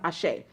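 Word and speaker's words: Àṣẹ: a he e again all of it is pronounced Ashe it means so be it or may it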